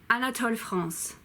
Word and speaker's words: Anatole France: do more Zell do more Mademoiselle de mapa Anatole France ah not Tyler Hans Anatole France Marcel priest